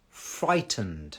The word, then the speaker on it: frightened: right another question please pronounced frightened frightened okay fry again is that F sound so the teeth touching the bottom lip but again it's r so think it's that think but I need to get the r sound in so the top uh the teeth touches the bottom lip a little bit further back because you need to get to the r f frightened frightened I hope you're not